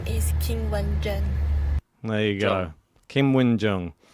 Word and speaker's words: Qinwen Zheng: So we will now be pronouncing it like that. Qinwen Zheng.